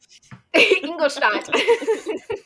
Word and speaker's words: Ingolstadt: Ingolstadt. I'm actually not sure if that's how you say it. That's how you pronounce it. That was really good. Hell yeah. That's how it's pronounced in the audiobook.